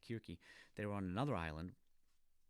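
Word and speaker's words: Circe: creature her name is kirky often pronounced as seriously with the sea but the greek is more like kirky they were on another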